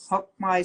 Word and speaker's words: Hoc Mai: Hoc Mai? Yeah, Yes. Yes. Hoc Mai Scholarship as well as Advanced Pelvic Health Training.